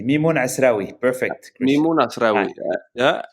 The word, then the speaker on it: Mimoun Assraoui: Am I pronouncing that correctly? My Arabic is a bit rusty. Exactly. Mimoun Assraoui.